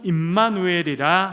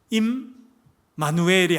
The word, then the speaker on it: 임마누엘: 함이라 아멘 자주 말씀드렸습니다만 임 마누엘이 아닙니다. 우리는 이제 이름이 천세종 김지은 이렇게 되니까 첫자를 떼고 이렇게 하는데 그게 아니고 임마누엘 요렇게 발음합니다. 임마누엘 요렇게 임마는 딱 붙어 있는 단어입니다. 임마는 임마가 무슨 뜻이라 그랬어요?